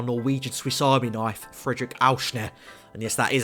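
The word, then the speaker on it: Aursnes: So moving into midfield, we picked up our Norwegian Swiss Army knife, Fredrik Auschner.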